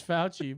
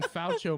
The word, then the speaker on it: Fauci: is i keep forgetting it's it's fouchy but i keep saying faucio marks i like that